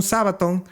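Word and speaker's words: σάββατον: En la palabra griega 45:21, Sabbath, que ya ustedes saben que es la pronunciación Sabbaton, día de reposo o sábado.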